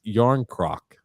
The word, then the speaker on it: Jan Krok: Jan Krok is pronounced Yarn Krok.